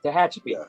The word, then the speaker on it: Tehachapi: to if I say it right, Tehachapi Pass, Tehachapi, thank you. Yeah. Tehachapi, the Cajon Pass.